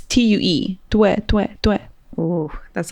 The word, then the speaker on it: Tue: It's T-U-E. Tue, tue, tue. Ooh, that's a little too close to Tua. Not Tua. Tue, it's Tua in Spanish.